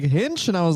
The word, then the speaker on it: Hinch: that a thing yeah he kept saying hitch and someone was like hinch and i was like